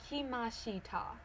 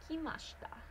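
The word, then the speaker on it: 来ました: You do not pronounce that word kimashita. Even though that I is there, you pronounce it kimashita. If you say kimashita, you are not speaking good Japanese.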